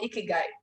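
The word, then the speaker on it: 生き甲斐: of the retirement they have a word called ikigai pronounced like so this I would like to know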